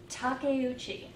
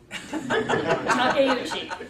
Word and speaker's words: Takeuchi: my name is Takeuchi four syllables pretend it's Italian Takeuchi I came into Toast